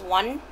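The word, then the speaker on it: Oanh: And then my first name is Wan, like, O-A-N-H.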